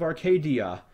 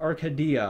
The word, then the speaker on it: Arcadia: pronounced I I I I pronounced an emphasis on the a for some reason I don't know I go up to my friends and be like Oh I'm playing this awesome RPG called uh Skies of Arcadia or Arcadia or whatever I would say I